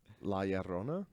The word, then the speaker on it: La Llorona: It's kind of like a D La Llorona. almost. Yeah. Yeah, just Ditch pretend witch. if you wanna roll your R's, just pretend it's a D.